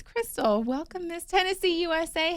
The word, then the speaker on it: Christell: welcome Crystal hi yes I said it right yes I feel like you told me some people read your name differently than it said but it's Crystal welcome Miss Tennessee USA